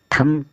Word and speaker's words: thumb: THUMB थम, थम होता है अंगूठा।